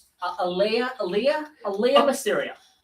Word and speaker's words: Aaliyah: Uh, uh, what's her name pronounced? Aiyah. Aaliyah.